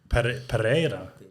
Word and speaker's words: Pereira: would say in Portuguese, really, if you really want to stress it. Yeah. It's Pereira. Pereira. Pereira, yeah. Is that right? It's like, with an accent.